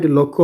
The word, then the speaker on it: লক্ষ্য: লাখ মানে কি উদ্দেশ্য সরি এ লাখ নয় এ লক্ষ্য হব আমি এই লাখ অম কই এটু উচ্চারণ করলে লক্ষ্য হব তোমার লক্ষ মানে এই অখম লাখ কইছু কিন্তু এই ল যতক্ষ বিষ থাকলে লক্ষ্য বলি কব আর এই লক্ষ্য মানে